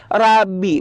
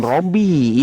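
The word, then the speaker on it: ربي: kosakata Rabbi itu boleh ya, Rabbi bukan Robby ya.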